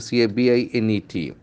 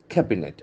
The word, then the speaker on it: cabinet: Sound is very interesting we see that okay ca b i n e t okay its pronunciation is very important cabinet okay cabinet the accent force on the first syllable cabinet